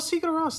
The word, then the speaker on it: Sigur Rós: How do you pronounce that? Oh, Sigur Rós.